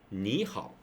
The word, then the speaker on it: 你好: If two combine them together, it becomes pretty hard for human, not just the Chinese, but everyone to pronounce. So they change it to 你好. So ni, so become the second one. So here's a rule: if two third tone combine them together, the first will go to the second tone.